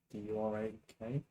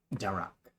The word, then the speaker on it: Darak: D-U-R-A-K. Yep. To Darak. Okay, so that's his superior. D-U-R-A-K. D-A-R-A-K. Not Durak, Darak.